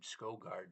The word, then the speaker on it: Skovgard: I say my name Skovgard, but it's written s k o v g a r d.